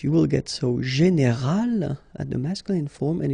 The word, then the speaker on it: général: Okay, but then phonetically it's quite interesting because you don't make any difference. You will get so général at the masculine form,